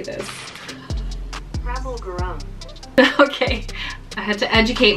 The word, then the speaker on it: Prabal Gurung: Prabal Gurung. Okay, I had to educate myself. This is from designer Prabal Gurung.